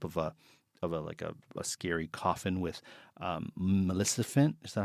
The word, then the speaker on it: Maleficent: But I saw a casserole dish in the shape of a scary coffin with Maleficent. Is that how you say it? Maleficent? Maleficent.